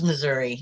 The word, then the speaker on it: Missouri: You definitely don't pronounce it as Missouri, do you? Is it Missouri? It's Missouri, yeah. Missouri.